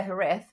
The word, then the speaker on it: Jerez: the word Sherry herth when we say Hareth is spelled J E R E Zed no one ever says the zed or and J is always like the H sound.